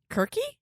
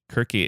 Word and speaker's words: Kirke: not saying this uh the Greek pronunciation of her name kiry Kirky Kirky it is spelled with